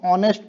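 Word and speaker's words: honest: उसी प्रकार अच्छर एच का एच का उच्चारण उच्चारण शब्द शब्द ऑनेस्ट इसको ऑनेस्ट पढ़ते नेस्ट नहीं ऑनेस्ट में नहीं किया जाता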